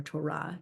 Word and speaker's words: Torah: So I would be joyful if you would use the word Torah or Torah in its Hebrew pronunciation.